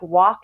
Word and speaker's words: walk: When you say like words like walk and talk, if you say walk in, I might criticize you for dropping a G, but in the 15th century, we dropped the L and no one hits